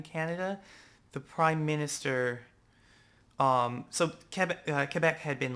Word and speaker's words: Quebec: So Quebec had been like Quebec. Quebec. Had been very much like Qatar, Quebec. There's a U though in Quebec. There's no U yes, in but it's Qatar. French. So, Quebec.